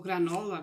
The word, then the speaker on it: granola: Vou colocar também esta grânula, aqui diz grânula tradicional, ou granola, como várias pessoas pronunciam, só que esta aqui tem pepitas de chocolate.